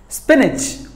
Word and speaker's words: spinach: and were number eight spinach speak niche two syllables the stress falls on the first syllable speak niche spinach were